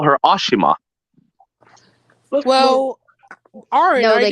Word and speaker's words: Ashima: Like you mean the fact that they had Ashima be pronounced Ashma is just dead to me. Well, I mean, in India, that is the way they say her name. Ashima.